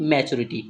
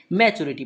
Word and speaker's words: maturity: इसका उच्चारण जब हम करते हैं तो इसे हम पढ़ते हैं मैच्योरिटी, ठीक है। क्या पढ़ेंगे, मैच्योरिटी पढ़ते हैं, ठीक है।